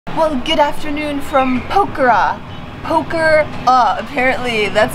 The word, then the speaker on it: Pokhara: Pokhara, apparently that's how it's pronounced. I actually. Not Pokhara. We've been saying it wrong for a few days, but I finally Googled it and it's Pokhara.